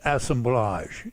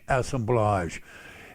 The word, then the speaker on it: assemblage: it's pronounced assemblage it's a French word like collage assemblage and what it what